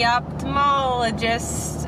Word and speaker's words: ophthalmologist: Hi, I'm back from the ophthalmologist. Is that how you say it? I've always pronounced the TH, like ophthalmologist. But it's like O-P-H.